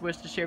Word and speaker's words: Worcestershire: just did it that's the right one it's wish to share but here's the here's the best one for David David pronounced Copernicus I used to say Copernicus soil